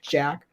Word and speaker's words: Jaka: Jack, but eventually he changed the spelling to like Jaka, like that spelling, but still pronounced Jack.